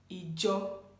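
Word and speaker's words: Ìjọ: So church in Yoruba is being pronounced as Ijo, Ijowa, our church. Well, in Ondo, it's being pronounced as Ujo, Ujowa, Ujo. Please, I want you to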